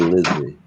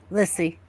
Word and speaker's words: Lissy: Is it pronounced Lissy or Lizzie? Lissy. Yes. So her name is Melissa, but everybody calls her Lissy.